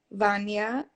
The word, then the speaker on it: Wanja: So my DJ name is, and once again, my name is pronounced Vanya, just so people know.